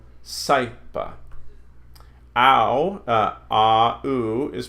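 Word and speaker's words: saepe: So, a, is pronounced I, as in aisle. So puelai, quaiso, saipa. See those here. Puelai, quaiso, saipa.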